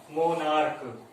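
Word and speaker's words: monarch: okay, एक और criteria है, अगर इनका प्रोनाउंसिएशन, CH का प्रोनाउंसिएशन क की तरह होता है, मोनार्क क, अस्टोमैक क, इनका एंड में इस CH का साउंड कैसा है क, इसलिए ये एक्सेप्शन है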